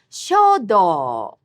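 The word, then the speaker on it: 書道: The art of traditional calligraphy is shodo. All these have high-low pitch accent.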